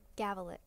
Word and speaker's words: Gavulic: Gavulic.